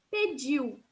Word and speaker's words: pediu: Só lembrar que aqui o U tem um som diferente. Então, a gente vai falar pediu, certo?